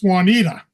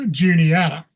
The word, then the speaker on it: Juniata: And first off, I'll mention a lot of people out of the area, when they first see the name, they think it's Juanita, not Juniata.